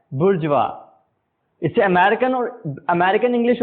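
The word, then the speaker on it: bourgeois: और वर्ड है बजवा स्पेलिंग है बी ओ यू आर जी ई ओ आईएस लेकिन प्रोनाउंस कुछ और ही हो रहा है बुर्ज वा इसे अमेरिकन और अमेरिकन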